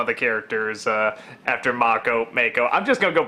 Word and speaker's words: Mako: always want to say yeah I know it's mock oh it's it's very nice you named a character after him but it's like I know that's how it's pronounced that I know it's not make oh it's just a lot of our people are